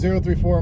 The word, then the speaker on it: 034: with me, and yeah, I finally figured out how to pronounce it. We're in. 34. Yeah. You know, there's a lot of debate about it. I don't know why, but You know I've been what? corrected both ways. 034 is correct. That is the only way you should ever pronounce it.